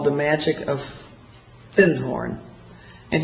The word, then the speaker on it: Findhorn: And I said, "Do you have anything on Findhorn?" Because I'd found a book called The Magic of Findhorn. And he corrected my pronunciation. He said, "You mean Findhorn?"